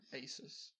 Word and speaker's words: ASUS: of irritating things from asus which i i think it's a zeus it's not aces it's racist no it's pretty cool that sounds stupid it's pronounced asus i'm just gonna go